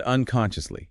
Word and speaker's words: unconsciously: And unconsciously. He unconsciously tapped his foot. Unconsciously stress on the second syllable. Con. Clear shears sound.